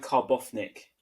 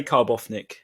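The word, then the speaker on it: Karbownik: going to go i'm going to go with karbov nick i'm going to assume because i normally pronounce often they for double use yeah so i'll say carbofnic he's a lefty i will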